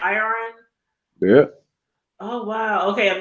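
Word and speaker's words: Irion: Iron.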